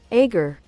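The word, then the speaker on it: Aegir: accord according to Google I hold up agar it's agar Yeah, which is what that would be.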